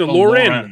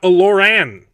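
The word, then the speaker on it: Olórin: It's also how he pronounces it, not Olorin. It's Olorin, not Oloran.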